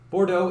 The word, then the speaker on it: Bordeaux: It was made by a tiny dev team, less than 15 devs, from Bordeaux. I know the end of that's, I think, pronounced dough. Bordeaux in France.